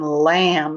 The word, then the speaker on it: lamb: silent in lamb and the b is silent in limb limb and lamb all